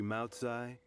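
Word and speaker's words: Maocai: you mess with Gentry Moutsai, you're messing with the Fatui. I would not have pronounced that as an S, so that's good to know.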